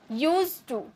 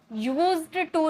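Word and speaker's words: used to: की first form object लिखा रहता है यूज्ड लेकिन पढ़ा जाता है यूज यूज टू यूज्ड टू नहीं ओके जैसे मैं पढ़ा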